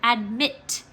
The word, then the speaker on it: admit: consonant good job and our accent goes on our second syllable because this is the word admit and mit the second syllable is the one that we say longer and louder okay once you are